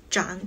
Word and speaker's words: 涨: 涨涨涨涨，千万不要把声调读错了。